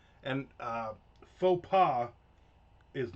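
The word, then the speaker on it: faux pas: And uh faux pa is not pronounced fox fox paws.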